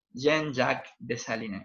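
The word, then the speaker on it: Jean-Jacques Dessalines: va a ser futuro después del futuro presidente jean jacques dessalines así se pronuncia fíjense todo lo que fue una guerra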